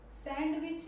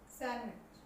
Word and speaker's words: sandwich: सैंडविच नहीं होता ये, सैंडविच, सैंडविच, सैंडविच, ठीक है।